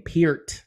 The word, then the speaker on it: Peart: drummer Neil P some people by the way pronounce uh Neil last name pier and not per um I always heard it as per and I was saying it that way on